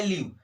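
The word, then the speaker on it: leave: उसी प्रकार देखिए यहाँ पर ई के बाद ए लगा है, तो इस ए को नहीं पढ़ेंगे, तो ये क्या लिखा है, लिव लिखा है, क्या लिखा है, लिव, ठीक है।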